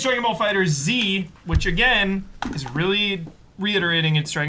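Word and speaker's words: Dragon Ball FighterZ: pronouncing Dragon Ball Fighter Z or Dragon Ball Fighters? Dragon Ball Fighter Z?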